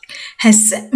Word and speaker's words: chce: দেখেন এখানে CH মানে সে হা, পলিশ ভাষায় যেটাকে বলে। এই CH একসাথে থাকলে সেখানে হয়ের উচ্চারণ হয়। তাহলে আপনি হ সে এইভাবে বলবেন না, হটা ভিতর থেকে উচ্চারণ হবে। আমি বুঝতে পারছি কিনা জানি না। হ্যাস এভাবে।